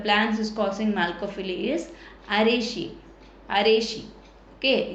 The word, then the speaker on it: Araceae: So which family of the plans is causing Malcophily இஸ் Araceae. Okay, its name it should be pronounced like Araceae, are pollinated by snails.